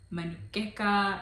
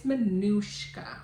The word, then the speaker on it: Manushka: names like marucheka I'm like no it's manushka manushka yeah like I can even